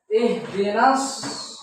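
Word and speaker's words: اهدنا الصراط: Jadi ihdinas ini alnya tidak ihdinal sirah bukan, ya. Langsung ihdinas.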